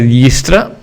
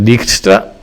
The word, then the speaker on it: Dijkstra: hablar del algoritmo de diestra que no sé muy bien por qué se pronuncia así debía ser dykstra pero en castellano se le mete hay una una y